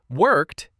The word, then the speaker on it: worked: Worked ends with t.